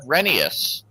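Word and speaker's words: Rheneas: I pronounced it Renee instead of Renius.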